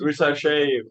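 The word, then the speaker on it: Risacher: Reed Shepard is Not Fifty- Risache. How you say it? Not Oh, yeah. Risache, whatever his name is.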